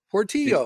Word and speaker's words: Portillo: if it's real because if it's a malbeck then that's Argentinian and it should be poro Portillo we're gonna pronounce it